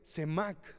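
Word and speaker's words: סָמַךְ: Esta palabrita sostienen, hermanos, viene del hebreo semac, con acento en la A y K de kilo al final.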